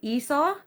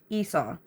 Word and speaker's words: Esau: It's apparently Esau. Let me know if I'm saying it right. Esau.